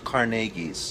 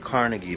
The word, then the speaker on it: Carnegie: Scottish and she was a descendant of the Carnegie's that's right we at the time called at Carnegie but she was very insistent no no it's